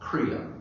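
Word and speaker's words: kriya: So the way that we learned to practice was using what they called crea. K R I Y A is how you spell it in English.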